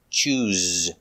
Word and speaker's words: choose: needs to choose pronunciation use the Zebra z sound with vibration Z choose he needs to choose